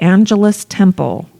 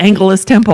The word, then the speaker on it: Angelus Temple: She moved to Los Angeles and built the Angelus Temple. It'd be awesome if the pronunciation really is Angelus Temple, and we're just like two houses. I know, because it's after angels. for and sure that.